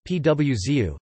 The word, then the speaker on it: pãozinho: producer of these nuts, and pauzinho, pronounced pwzu, Portuguese-style French buns, were brought in by the Portuguese.